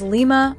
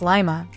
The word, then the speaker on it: Lima: And then there's Lima, Ohio, which locals pronounce Lima, not Lima.